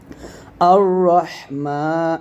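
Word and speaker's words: الرحمن: তাহলে বলব হামজা র জবর আর র হা জবর রহ আর রহ এই হাটা অবশ্যই গলার মাঝখান থেকে চাপ নিয়ে আসতে হবে। রহ আর রহ। মিম খারা জবর মা একলিফটা আর রহমান এ নুনকে রকে ধরবে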